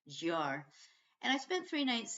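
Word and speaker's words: Győr: didn't know how to pronounce it I was pronouncing it gar but that put put off a young couple I met on the train in in total giggles and they told me it's pronounced jar and I spent three nights there I I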